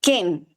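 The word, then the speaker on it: חן: de una raíz hebrea que se escribe con k de de kilo con h de hijo la letra e y n Ken k de kilo h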